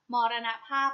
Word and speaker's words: มรณภาพ: ว่า มอญ แต่ ถ้า มรณภาพ อ่าน ว่า มรณภาพ มรณะ ภาพ ประกอบ ไป ด้วย มอ ม้า รอ เรือ เณร ข้อ สำเภา Star พ.